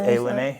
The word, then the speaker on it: Ilani: It's A-Lene, yep. So just because Eddie Blackburn told me. So Eddie was like, it's actually the A-Lene.